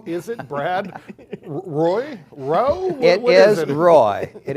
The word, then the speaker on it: Roae: then I say well it's pronounced Roy just like it's spelled r-o-a-e yeah but yeah I